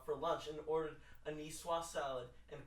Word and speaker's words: Niçoise: Greg Miller once went to Barney's Rooftop Deck restaurant for lunch and ordered a niçoise salad and called it a Nicoy salad. You totally pronounced Niçoise wrong.